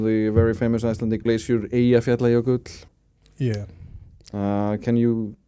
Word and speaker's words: Eyjafjallajökull: Eyjafjallajökull. Yeah. Well, you see, yes, the Icelandic J is in fact a Y, and then maybe it can